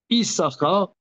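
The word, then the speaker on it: יששכר: Alors alors là euh Isara le deuxème sim ne se prononce pas.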